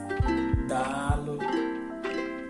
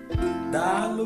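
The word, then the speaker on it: Daalụ: So the last but not the least is Dalo. Dalo means well done. So the Dalo is being written the way it's being pronounced, D-A-A-L-U. Dalo.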